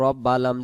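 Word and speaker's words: رَبِّ: রবা যাব রব্বা, লাম জের বিল, রব্বিল, রব্বিল, রব্বিল, রব্বিল।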